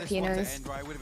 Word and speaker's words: Pinoy: Honestly, we love our Pinoys.